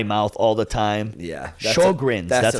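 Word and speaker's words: Sjögren's: Sjogren's.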